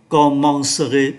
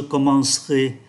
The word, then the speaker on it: commencerai: Nhưng chúng ta để ý âm tiết mang ký tự ơ này nó đứng giữa hai âm tiết khác, do đó không được phát âm. Và thay vì đọc là commencerai 4 âm tiết, chúng ta chỉ phát âm còn 3 âm tiết là je commencerai, tu commenceras, il commencera,